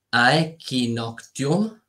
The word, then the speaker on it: aequinoctium: Equinozio deriva dalla parola latina, lo dico come si pronuncia, aequinoctium, a sua volta derivato dalla locuzione aequanox, che significa notte uguale al giorno.